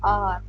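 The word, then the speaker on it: hour: आर आर यहां पर यह जो एच होता है यह साइलेंट होता है और इसका जो प्रोनंसिएशन है वह होता है आर।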